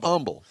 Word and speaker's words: Humble: Well, somebody made fun of me the other day cuz I said Humble, Texas. Oh, you mean Humble? No, not Humble. It's Humble. You have to live here to understand that.